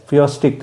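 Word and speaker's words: Phoestics: ಸ್ವಲ್ಪ pronunciation typical ಆಗಿದೆ ಪಿ ಎಚ್ ಓ ಇ ಎಸ್ ಟಿ ಐ ಸಿ ಎಸ್ ಫಿಯೋಸ್ಟಿಕ್ ಅಂತ ಉಚ್ಚಾರಣೆ ಮಾಡಬೇಕು ಈ ತಂದೆ ನಿಕೋ ಮ್ಮ್ಯಾಕಸ್ ರವರು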